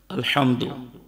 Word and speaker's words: الحمد: پہلے تلفظ درست کرو، جیسے پڑھنا ہے لفظ الحمدللہ رب العالمین، ایسے نہیں، الحمد الف کو لام کے ساتھ جھٹکے کے ساتھ پڑھنا ہے، جس میں فتحہ کی